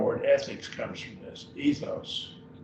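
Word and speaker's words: ἔθος: Ethos, in 2 syllables.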